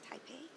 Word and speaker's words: Taipei: Do you pronounce this Taipei? Taipei Economic, yes. Okay.